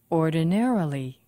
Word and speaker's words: ordinarily: Ordinarily. ordinarily. Five syllables, and the stress is on ne.